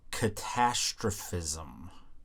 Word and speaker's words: catastrophism: And he focused on this idea called, and I always fuck this word up, catastrophism. Catastrophism? something like that. It's like catastrophe, but with ism at the end.